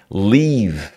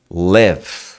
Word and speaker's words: leave: no Instagram outro dia leave essa pronúncia você fala leave é diferente do live com i né então por exemplo se